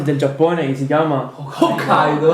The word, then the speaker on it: Hokkaido: Cioè, quando dici quella famosa isola a nord del Giappone che si chiama, Hokkaido. Hokkaido. non devi dire Hokkaido, ma devi Hokkaido. poco far sentire che è Hokkaido.